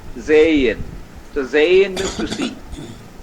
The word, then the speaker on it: sehen: Now H can be inside a word and between 2 vowels. V1 and V2. So even there H remains silent. Like SEHEN means is pronounced as Zayin. Zayin.